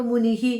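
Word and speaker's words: മുനിഃ: മുനി എന്ന് പറയുമ്പോൾ നീ ഇട്ടിട്ട് 2 കുത്തിനെ വിസർഗം എന്ന് പറയും. അപ്പോൾ നമ്മൾ മുനിഹി എന്ന് വായിക്കും.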